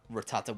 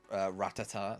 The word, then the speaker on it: Rattata: Rattata, which when I was young, I used to say it Ratata.